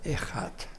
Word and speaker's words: echad: Jeg do ikke hebraisk, men jeg halte at det uttaler echad.